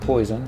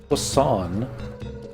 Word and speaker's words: poisson: Not poison. It's pronounced poisson. It's French for fish.